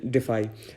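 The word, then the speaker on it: defy: तो next meaning है डिफाई। ठीक है, इसको अब जैसे हम लोग हिंदी भाषी हैं, इंडियंस हैं, तो हम इसको डेफी बोल सकते हैं, लेकिन नहीं, इसका जो प्रॉपर प्रोनाउंसिएशन है दैट इज डिफाई।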